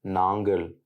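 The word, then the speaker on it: நாங்கள்: certains pronoms comme navient nangle. Dans le tamou parlé, le L final est mué, ce qui donne nang.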